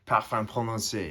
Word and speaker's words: Parfum Prononcé: C'est Parfum Prononcé. It's perfume pronounced.